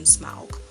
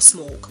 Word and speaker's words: Smaug: land back from the dragon Smaug or smoke however you want to pronounce it it's just a great